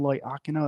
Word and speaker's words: Loiacono: my name is ly aino that's how you pronounce my last name sometimes a tongue twister